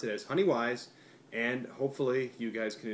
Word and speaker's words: Weiss: you would pronounce as Weiss. Now science tells us that everybody who would pronounce a W as a V is a Nazi.